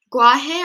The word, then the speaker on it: guaje: Guaje pronounced guaje, like G, it says capital GWA dash, so that's gua, and then he, like he, H-E-H.